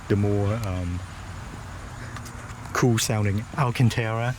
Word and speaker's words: Alcantara: So coming in, it's suede, or if you like the more cool sounding Alcantara, it's suede.